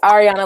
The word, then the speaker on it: Ariana: your name right yeah it's ariana like the singer ariana grande okay so thank you